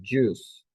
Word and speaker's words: juice: one e yes and here remember the pronunciation juice you don't pronounce the I juice juice okay this one what